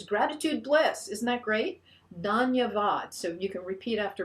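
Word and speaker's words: धन्यवाद: words just two words danyavad ananda and it means gratitude bliss isn't that great danyavad so you can repeat after me it's three syllables don that means gratitude ananda three syllables again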